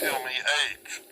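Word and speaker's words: με: Well, it's like not M-A-Y in the pronunciation. This one's M-E-H. Like, meh.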